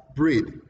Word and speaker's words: breathe: B-R-E-A-T-E is pronounced as breathe.